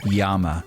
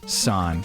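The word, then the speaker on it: 山: Stonehenge is shaped like the Japanese character Yama, meaning mountain, also sometimes pronounced as san, like Fuji-san, Mount Fuji.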